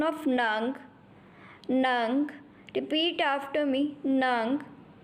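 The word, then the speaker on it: neng: Has a pronunciation of nung.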